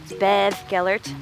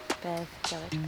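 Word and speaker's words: Beddgelert: It's spelled Bed Gellart. Bed Gellart, like a sheep, he said. Bed Gellart.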